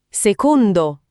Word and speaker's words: secondo: Secondo. Secondo con la e chiusa. Secondo come la carne o il pesce.